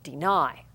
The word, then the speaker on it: deny: Is the word deny or deny? Kids probably go, well, deny. So we know that's an accented syllable, and notice I'm saying I, deny. In a final position, accented position, we have a long I sound.